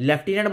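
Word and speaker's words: lieutenant: कहीं भी नहीं है लेफ्टनंट बोलते हैं पर एफ कहीं भी नहीं है अगर इसमें हम देखें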